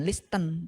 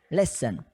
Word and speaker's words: listen: Nah, untuk pengucapan listen, bukan listen, tapi listen.